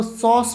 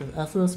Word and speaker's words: SOS: है एसओएस ऑप्स उसे इसको सॉस प्रोनाउंस करते हैं डेवलपर ने मुझे खुद बताया था सॉस प्रोनाउंस कैप एसओएस मत बोलो सस सो लेट्स स्टार्ट बिना